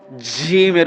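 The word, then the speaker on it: جيم: এটা শক্ত করে জিম। বলেন তো? জিহ্বার মাঝখানটা ঠিক উপরে লেগে যাবে। জিম জিম জি জি জিম জি জি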